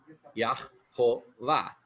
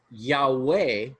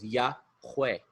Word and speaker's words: Yahweh: Siempre la H es el fin de un sílabo. Ah, y suena aj. Sí, en lugar de Yahová, en lugar de ese es Yahweh.